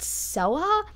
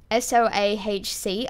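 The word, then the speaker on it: Soahc: Shakira's planet is just the reverse of Chaos, like Chaos written backwards, and I believe it's pronounced Soa, S-O-A-H-C, I don't know, I'm gonna pronounce it as Soa throughout the book, but that's cringy as fuck.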